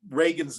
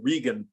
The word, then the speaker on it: Reagan: you you uh berated her for pronouncing Ronald Reagan's name wrong because she said rean and he yelled out from the audience it's